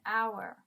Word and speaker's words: hour: a vowel sound okay even though it's beginning with an H an H is a consonant but the sound is like our like an o so actually here we're